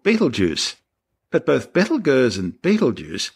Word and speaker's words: Betelgeuse: Now, although I'm calling the star Betelgeuse because that's the most popular way astronomers pronounce its name, it's also commonly called Betelgeuse.